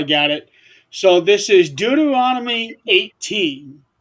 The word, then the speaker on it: Deuteronomy: there is a passage in the Bible in Deuteronomy okay is that is that the correct pronunciation yep deuteron okay um I'm I'm trying